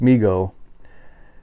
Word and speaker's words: Mego: And it looks like, it's pronounced MEGO.